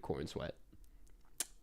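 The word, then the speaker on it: Corenswet: then I was like, there's just no way that's how you pronounce it. And turns out that is how you pronounce it. It's just David Cornsweat.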